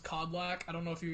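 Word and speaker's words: Kodlak: basically well the name is supposed to be pronounced codlak i don't know if you guys ever played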